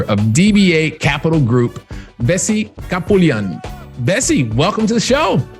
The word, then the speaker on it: Kapoulian: And I think it's Kapoulian.